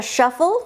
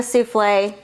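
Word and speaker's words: soufflé: They called it a shuffle because these ladies actually thought it was funny to mispronounce French words. So instead of calling it a souffle, that's where the name came from.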